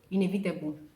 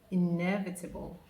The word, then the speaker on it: inevitable: I can't hear you inevitable there is no table in that word there is no table